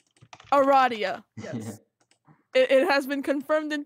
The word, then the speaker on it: Aradia: that's perfect ah I need two more yep Aradia okay oh this is pronounced Aradia Aradia it has been confirmed in pester quest yes